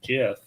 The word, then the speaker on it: GIF: to be all ironic and says no it's Jeff no it's gif well if the Creator says it then I'm